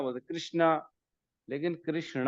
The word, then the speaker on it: कृष्ण: वैसे प्रोनाउंसिएशन जो है कृष्ण है, कृष्ण ऐसा है, कृष्णा। कृष्ण, धन्यवाद न नहीं होता, प्रभु जी। ण ण, हाँ कृष्ण।